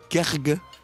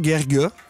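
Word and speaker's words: Guergua: » Garga. H-Fix. Garga. Ben voyons, G-U-E-R-G-U-A, Gerga. Ah oui, comme ça se prononce.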